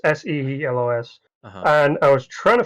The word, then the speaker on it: Seelos: I googled it, and the planet we see in the end of the Clone Wars is Seelos, or I think it's pronounced. It's Seelos.